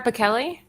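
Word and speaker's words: Pichelli: said this is sarah pikelli yes interesting okay this is her her it's the kelly especially remember we covered her woman and she like corrected somebody on an interview it's pronounced like a k kelly this is her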